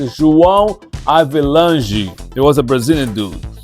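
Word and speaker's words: João Havelange: And his name, correct pronunciation, is João Avelange.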